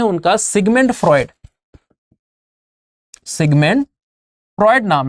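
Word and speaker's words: Freud: नाम है उनका सिगमंड फ्रॉयड। सिगमंड फ्रॉयड नाम है, लिखते हैं इसको EUD है, कई लोग फ्रूड पढ़ते हैं पर वो गलत प्रोनाउंसिएशन है। इट is called as Sigmund फ्रॉयड।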